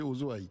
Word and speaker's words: OSO-AI: et directeur technique d'Osso comment on prononce ozo zo voilà j'ai tout faux j'ai faisit Oso e vous dites que c'est oosoï très bien vous êtes